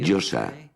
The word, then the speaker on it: Yosa: La Yo, la A, que se pronuncia así, Yosa.